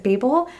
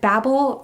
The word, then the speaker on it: Babel: Hello, today I'm going to be talking about Babel by R.F. Kuang. I know some people pronounce it Babel. I'm going to go with Babel for this review since I heard R.F. Kuang use that pronunciation.